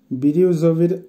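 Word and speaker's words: бирюзовый: বিরিউজভি, বিরিউজভির অর্থ হবে ফিরোজা কালার, উচ্চারণ হবে বিরিউজভি।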